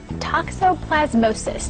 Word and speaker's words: toxoplasmosis: Talk this morning, toxoplasmosis. Did I say it correctly? Very good, very good. I had to practice that one.